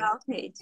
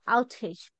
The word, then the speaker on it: outage: power outage.